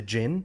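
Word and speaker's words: jinn: the group be the gin yeah they're Genies right well it's pronounced gin but right but we turned it into G we turned it into genies and I thought that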